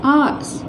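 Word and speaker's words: hours: For many हार्स, many आर्स, इसका उच्चारण pronunciation क्या होता है, आर्स। प्रोनाउंसिएशन मेन होता है, ध्यान रखना है यहाँ पर भी।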